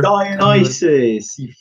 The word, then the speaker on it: Dionysus: you just tell me that again how you're pronouncing that the honest as I've never seen anything ok mr. English teacher Dionysus mom okay thank you well